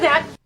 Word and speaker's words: that: Okay, I can do that. E a Phoebe diz, ok, I can do that. É muito comum a palavra that em contextos da vida real não ser pronunciado o último T.